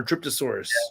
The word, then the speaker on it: Dryptosaurus: the dryptosaurus oh dryptosaurus I'm reading that as an a it's an R dryptosaurus that's that one looks